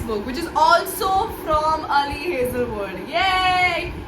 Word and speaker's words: Ali Hazelwood: This is by Ali Hazelwood. I know I'm pronouncing it right. All the American booktubers pronounce this Ali Hazelwood.